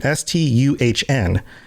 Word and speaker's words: Stuhn: worshipped as Stun, and I believe it's pronounced Stun, Stuhn, the god of ransom, shield thane of shore.